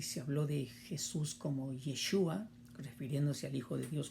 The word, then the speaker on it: Yeshua: Josué nos habla de ese nombre que se pronuncia como Yeshua, que algunos lo complementan diciendo Yeshua HaMashiach, Jesús el Cristo en nuestro lenguaje español.